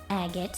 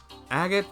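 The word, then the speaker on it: Agate: Agot the AGOT the heavy blade. An A-rank bracer from Liberal. Agot. The canon pronunciation.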